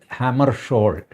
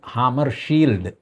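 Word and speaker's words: Hammarskjöld: general ഡാഗ് ഹാമർഷോൾ ആയിരുന്നു അതിന്റെ സ്പെല്ലിം വെച്ച് നമ്മൾ നേരെ ഉച്ചരിച്ചു കഴിഞ്ഞാൽ ഡാഗ് ഹാമർ ഷീൽഡ് എന്ന് പറയും അത് ലോക്സഭയിൽ ജവഹർലാൽ നെഹ്റു ആണ് ആദ്യമായിട്ട് തിരുത്തുന്നത് എല്ലാവരും ഡാഗ് ഹാമർ ഷീൽഡ് എന്ന് പറഞ്ഞു നെഹ്റു പറഞ്ഞു അങ്ങനെ എഴുതുമെങ്കിലും അത് ഉച്ചരിക്കേണ്ടത് ഡാഗ് ഹാമർ ഷോൾ എന്നാണ് അത്രയക്ക് മഹത്തായ ഒരു പദവിയായിരുന്നു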